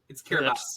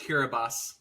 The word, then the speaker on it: Kiribati: I'm gonna stay in the South Pacific and go Kiribati here. Okay. It's Kiribati, by the way. It's what? It's weird. It's pronounced Kiribati.